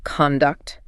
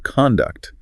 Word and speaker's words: conduct: So as the noun conduct, it means behavior or manners. The emphasis is on con. His conduct at the meeting was inappropriate. Or the company has a strict code of conduct.